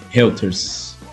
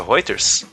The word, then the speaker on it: Reuters: no meu filho a reuters não se pronuncia roters r 3 mas é reuters descreve reuters&lt roxas nas